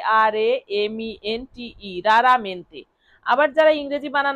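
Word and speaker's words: raramente: থেকে করবেন আর এ আর এমই এন টিই রারামেন্তে। আবার যারা ইংরেজি বানান না করতে পারবেন তারা বাংলা বানান করতে পারলে এই বাংলাটাও বানান করে নিতে পারেন।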